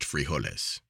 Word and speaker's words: frijoles: from dinner or supper is frijoles pronounced frijoles consists of beans brown